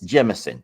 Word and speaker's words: Jemison: Jemison, did I say it right? Yes. Jemison.